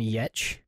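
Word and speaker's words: Giertz: her name is Simone yetch and her last name is spelled g i e r t z I think but it's pronounced yet is she a gamer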